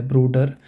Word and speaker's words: Bruder: So here we pronounce it as der Doktor, die Mutter, der Vater, der Bruder. So it may sound like we ignore the R part completely.